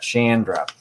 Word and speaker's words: Chandra: All right, so rhymes with and. I'm going to remember that. Chandra.